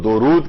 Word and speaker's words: درود: کیا جائے گا وہ درود کیا جائے گا، دال کے اوپر پیش ہے، دال کے اوپر زبر نہیں ہے۔ اچھا، اب درود کے لفظی معنی کیا ہیں؟